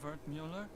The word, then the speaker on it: Wertmüller: Cut-up version of Wertmüller. It's German, from my father. He said to always insist on the umlauts. Otherwise people butcher the pronunciation.